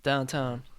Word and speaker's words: downtown: downtown you say downtown downtown how do you say downtown that's how I say to downtown pronounces it so like you like put the emphasis on the second word town downtown done he says